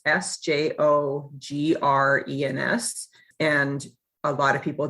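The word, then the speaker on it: Sjögren's: name english speakers but it's pronounced sjogren's like tv show grins g-r-i-n-s so that's how i remember it so i was diagnosed with sjogren's and vasculitis at the age of 28.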